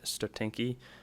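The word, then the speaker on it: стотинки: 1951 5 stotinki, I believe, is the correct pronunciation.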